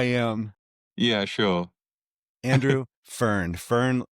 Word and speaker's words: Fearn: Fern, do you pronounce it like the plant?